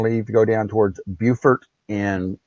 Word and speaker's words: Beaufort: That must be North Carolina, because that South Carolina is Beaufort with a T. Beaufort.